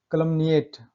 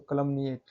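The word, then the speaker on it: calumniate: इसके एक्सेप्शन है कलमनिएट, देखिए कलमनिएट, एम के बाद एन आए, फिर हम पढ़ रहे हैं ना उसको कलमनिएट, कलंक लगाना या बदनाम करना।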